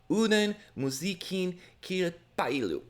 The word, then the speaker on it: Uuden musiikin kilpailu: The Finnish national final, Uuden musiikin kilpailu, that is how you pronounce it, took place yesterday.